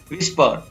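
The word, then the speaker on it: whisper: Next है विस्पर, तो यहाँ पर भी H है वो साइलेंट रहता है।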